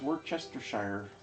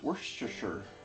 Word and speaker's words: Worcestershire: If you pronounce it the way it's written, it's Worcestershire. But apparently that's not how you say it. It's Worcestershire.